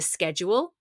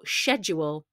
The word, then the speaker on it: schedule: as I just said this word can PR be pronounced in in one of two ways either schedule or schedule they're both fine one is more American one more British but in the UK we interchange the two schedule schedule this is